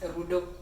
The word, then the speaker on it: Rudo: it right so it's a sh name it's rudo what rudo so yeah those are mostly I